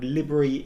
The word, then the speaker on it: LBRY: be talking about the library platform I've also heard it called libery in some quarters as well but I'm gonna be calling it a library I'm not sure if